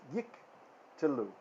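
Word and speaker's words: יִקְטְלוּ: If there are two schwas in a row, the first is silent and the second is vocal. The first is preceded by a short vowel and is silent, and the second is not and is vocal. So for example, two schwas in a row, we split the syllable down the middle. So it's yik telu.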